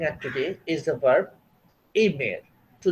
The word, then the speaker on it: aiment: Tu aimes, you love, informal.